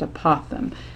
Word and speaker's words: apothem: word call it apothem apo tha a.m pronounced apothem and that's an important one